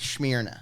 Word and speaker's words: Smyrna: It's Smyrna. pronounced Smyrna.